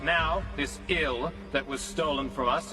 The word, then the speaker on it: IL: And right now, this ill that was stolen from us is located somewhere in the Limitless Fortress. You're calling it ill? Pronounced exactly the same as the English word ill, meaning sick or die?